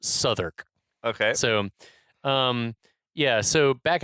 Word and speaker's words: Southwark: Southwark, which is Suffolk. spelled Southwark, but pronounced Southwark.